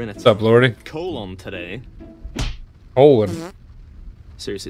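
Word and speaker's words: Colón: Colon? Yeah. You pronounce it something else? Colon. It is actually colon. Yeah. It is colon. Colon or something? Nah. It's actually colon. Colon.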